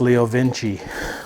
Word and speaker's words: Leo Vince: your name there but he was saying it's pronounced leo vinci we've been calling it